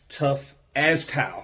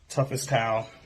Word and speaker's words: Tough as Tile: this is the homex tough ass towel I've been saying it wrong this whole time toughest tile so Mr J Howard like